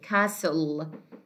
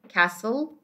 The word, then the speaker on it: castle: The ta here is silent. We say castle, listen. Okay, castle, listen.